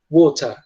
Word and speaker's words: water: Os britânicos, eles vão tender, né, ao som do T, eles vão de fato pronunciar como se fosse um T mesmo. Então, eles tendem a falar water, tá? Water. E tirando o som do R no final também, né?